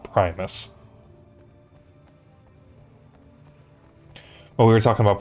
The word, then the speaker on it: Primus: Um and I found out that I've been pronouncing Primis' name wrong. They're actually called Primus.